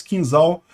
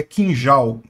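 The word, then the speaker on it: Kinzhal: calibre e 6 mísseis quinzeal que foram derrubados pelos ucranianos né Aliás a pronúncia correta é quinjal misses Skin gel que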